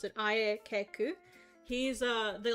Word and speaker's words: Aayeku: And I'll split it up so that you know how to pronounce it. Ayeku.